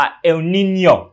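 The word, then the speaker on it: El Niño: ลม ออก มา นะ อ่าน ว่า เอลนีโญ่ ออก เสียง ตาม ครู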